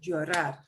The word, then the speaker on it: llorar: Anything that ends in an AR, we punch the last syllable a little bit harder. Llorar.